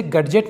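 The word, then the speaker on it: gadget: अगला एग्जांपल देखते हैं गैजेट इसे गजेट नहीं पढ़ेंगे इसे पढ़ेंगे गैजेट तो चलिए दोस्तों यहां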